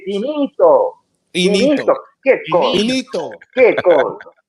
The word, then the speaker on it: finito: You cannot say finito like that. You should be glad both my grandmother and my father have passed on, because if they heard you mispronounce an Italian like that, they'd be like, what is wrong with your ass? You don't say it like that. We say finito.